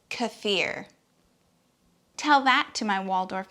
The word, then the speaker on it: kefir: you about pronunciation because you're still saying kiefer it's kefir tell that to my